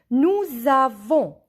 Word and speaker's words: nous avons: Nous avons. Here S and A, when we join them, we listen Z.